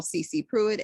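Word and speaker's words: sisipruitt: is spelled s-i-s-i-o-n-a-i-r or my other channel cc pruitt s-i-s-i-p-r-u-i-t-t also sound cloud you can go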